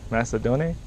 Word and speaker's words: Macedone: Elder Macedonian. All right. I have no idea how to spell that. It says it right there. Yeah. Macedonian. Macedon. Macedon. Macedon. Macedone?